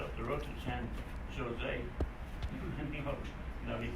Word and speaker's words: San Jose: He said, it's San Jose. Now, how do you get Ho out of a Joe? He said, well, you're here in California. He said, remember when you see a J, pronounce it with a H sound. I can handle that. J with an H sound.